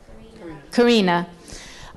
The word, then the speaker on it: Karina: How do you pronounce her name? Karina.